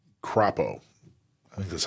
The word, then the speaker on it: Crapo: And Senator Mike Crapo, I think that's how you pronounce that.